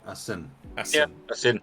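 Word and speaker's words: Asyn: what's this a sin a sin a-s-y-n a sin that's right that's what I'd say uh is a sin uh fills a summer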